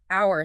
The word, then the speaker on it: hour: Portuguese speakers naturally want to pronounce the H in hour, but you've smoothed that out. Hour sounds identical to our